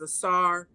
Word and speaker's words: Asar: Greeks use those terms, but the Medu Neter clearly has it written to pronounce it as Asar, Aset, and Haru.